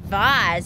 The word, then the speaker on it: vase: pretty looking heart vase or is it Vaz as some people might say viewer says vase which I think is the correct way to say it absolutely umbrella foreign net